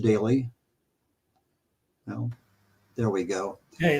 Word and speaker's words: Doelle: If you look at his last name, kind of an unusual spelling, but it's pronounced Daly.